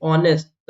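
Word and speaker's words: honest: बहुत काम आता है एच आए तो एच साइलेंट होता है साइलेंट होता है यहां पर वही रूल फॉलो होगा एच को नहीं बोलेंगे ऑनेस्ट ऐसे लिखते हैं ऑनेस्ट ठीक है तो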